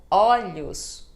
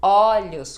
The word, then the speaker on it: olhos: como em vovó sim como olhos olhos quando é plural o primeiro o vai ficar ó então olhos ovos ovos Olha só então primeiro o vai ter som de o porque é plural também quando a letra O